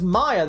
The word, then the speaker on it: Maya: ] way no the the younger one's Maya the older one's Mia I thought you've been saying Mia as Maya no you definitely did that a few times maybe not the whole time but you definitely did no the the Elder sister's Mia the younger sister's Maya I know how to